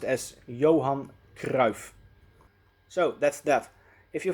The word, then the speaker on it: Johan Cruyff: do that so his complete name will be pronounced as johann grauf so that's that if you have any questions